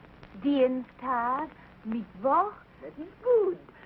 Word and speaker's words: Dienstag: Sonntag, Montag, Dienstag, Mittwoch. That is good. But pronounce the words broader, so Sonntag, Montag, Dienstag, yes?